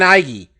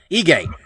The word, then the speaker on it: Ige: apex um korean zombie dan iggy um yeah i keep saying it i say it wrong every time don't i ige um korean zombies last